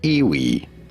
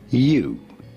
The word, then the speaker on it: ewe: It's not pronounced like you think it should be. It's not Iwi, but certainly you. Pretty straightforward once you know. You is how it is to be said.